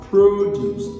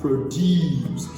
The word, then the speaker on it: produce: If the word is a noun, it is pronounced as produce. That is, the stress is placed on the first syllable. But if the same word is used as a verb, the stress shifts from the first syllable to the second syllable, and the pronunciation changes.